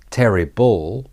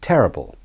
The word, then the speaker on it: terrible: and the L bull so it's not Terry Ball but terrible terrible terrible the rhythm is da